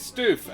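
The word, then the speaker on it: Stüf: um so sylvester is stoof um which is spelt s t u with an umlaut f um and i refuse to not pronounce that uh is it is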